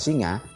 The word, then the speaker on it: Singha: Di situ menceritakan ada kerajaan Kanjuruan yang di era itu pendirinya Dewa Singa, tulisannya Singha tapi bacanya Dewa Singa.